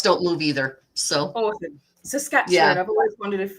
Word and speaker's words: Saskatchewan: Saskatchewan. I've always wondered if how to pronounce that properly. Sasquatch. Sort of like Sasquatch. Yep.